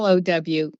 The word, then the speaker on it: Salo: Yeah, Salo, like Sawlow. Like I saw and I was low.